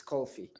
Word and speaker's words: kulfi: How do you spell that? It's Kulfe. It's kulfi.